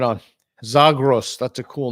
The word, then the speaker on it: Zagros: Zagros, is that a Kurdish name, Zagros? I think the origins of the name is actually Greek, and it would probably be pronounced like Zagros.